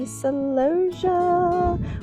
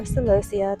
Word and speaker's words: celosia: And then down here, we have the celosia or celosia, depending on how you pronounce it.